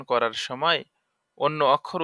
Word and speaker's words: ث: তার মানে সদের উচ্চারণ করার সময় সার মতো উচ্চারণ যেন না হয়, সা উচ্চারণ করার সময় সিনের মতন উচ্চারণ যেন না হয়, এটা আমাদের খেয়াল রাখতে হবে।